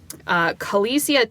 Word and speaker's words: Kaleisia: called, hang on, let me pull it up, Kalesia Tea Lounge. It's spelled Kaleisia Tea Lounge.